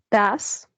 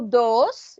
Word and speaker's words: does: Das. Das. Yes. Das. Remember, it's no dos. It's no dos. It's das. Das. Okay. The pronunciation is das.